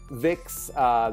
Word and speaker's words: Vicks: however they forgot that Vicks the V is pronounced F like an F and so it sounds